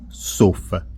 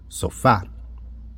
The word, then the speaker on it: sofá: sílaba tônica ó sofá eu não pronuncio sofa eu pronuncio sofá agora exemplos de acento